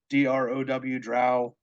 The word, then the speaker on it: Drow: It's hooked on phonics. BROW brow, DROW drow.